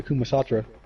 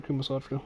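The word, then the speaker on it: Kama Sutra: People are reading the updated versions for the Kumasatra.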